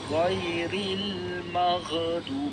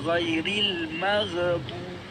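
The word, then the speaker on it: غير المغضوب: Mar jangan kita baca magu kita nak baca ghairil magu bukan ghairil magbu macam berkom-kom Bukan Nak buat kahak kalau kahak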